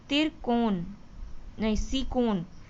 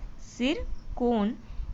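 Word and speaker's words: Tsirkon: सिरकोन, ये T silent रहता है, ठीक है, सिरकोन मिसाइल को प्रक्षेपित किया।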